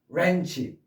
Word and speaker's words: wrench: 그냥 wrist, wrong, wrench 이렇게 W 발음 하지 마세요.